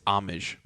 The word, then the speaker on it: homage: know but then i looked it up and it's homage so he was right but because it says it's hard to pronounce that's a-a-m-a-h-j homage see yeah we're right um